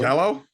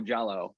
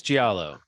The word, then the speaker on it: Giallo: Jello. It's Jello. Are you saying Jello? Like, do I want no Jello? Giallo? Giallo. Oh, Giallo. I think it's Giallo. I think you kind of put a Giallo.